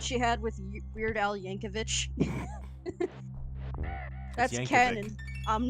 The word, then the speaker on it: Yankovic: had with Weird Al Yankovich that's Canon I'm not making that up oh Yankovic okay I've been saying yanovich my whole life I feel embarrassed I